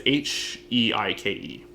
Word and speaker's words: Heike: Hiki Story is so up your fucking alley. How do you spell that? Hiki? Yeah, I might be mispronouncing it. It's Heike.